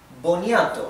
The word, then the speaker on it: boniato: Again, here I want you to focus on the T, right? And mainly on the O, the last O. I don't want you to pronounce this boniato. I want you to pronounce it boniato. Boniato. Okay, so this O, the first one, it's not bo, it's bo.